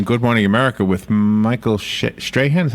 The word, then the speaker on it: Strahan: It was the thing he did just the other day on Good Morning America with Michael Strahan.